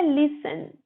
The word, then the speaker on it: listen: देन हमारा है लिसन, LISTEN, लिसन। टी हमारा साइलेंट रहेगा, तो लिसन का मतलब होता है सुनना।